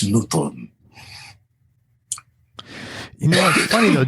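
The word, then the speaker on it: Notodden: festival important blues festival nnot newton n-o-t-o-d-e-n it's pronounced newton you know what's funny though didn't you think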